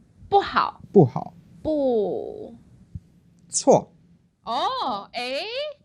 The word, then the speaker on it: 不错: 不. 错. Oh, eh? So actually, he went to the second one, which is a tone variation. It changes into the 2nd tone.